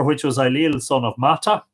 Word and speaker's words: Mata: The 5th of Genon it is, over which was Ailill, son of Mata. Very interesting, M-A-T-A, but in Irish, Mada, M-A-D-A.